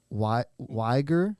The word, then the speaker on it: Uyghur: It's pronounced Uyghur. Uyghur. Uyghur. No. Stress the tone on the U and the G.